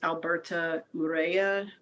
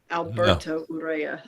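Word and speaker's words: Alberto Urrea: know the novelist um luis alberta urea alberto urea i just mispronounced his name but um he he's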